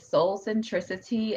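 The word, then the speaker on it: Soulcentricitea: i have patricia wants to know can you pronounce the name again and give your location yes it is soul centricity s-o-u-l-c-e-n-t-r-i-c-i-t-e-a there's t at the end 1106 east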